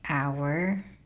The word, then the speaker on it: hour: Like the silent words, like hour is a clock, you know? But like the H is silent, so if it wasn't there, it would be hour.